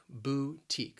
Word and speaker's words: boutique: the pronunciation boutique that second syllable that that t i q u it's pronounced like teak boutique you're planning on opening